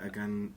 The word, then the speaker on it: Aganorsa: How do you pronounce it? Aganorsa Aganorsa, leaf, yeah.